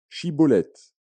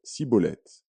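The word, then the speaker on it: Schibboleth: Il lui disait alors : "Eh bien, dis chibolette." Et il disait cibolette, car il ne pouvait pas bien prononcer.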